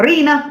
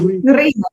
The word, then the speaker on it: Riina: Riina, is that how you say it? Sorry? Yeah, that's how you say it. Riina. Or if you want to do the Finnish R, just, be very aggressive about it.